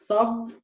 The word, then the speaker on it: صب: So the difference is in the a, the fatha. Both have a fatha. Here I say the fatha as a. Here I say the fatha as a. صب سب.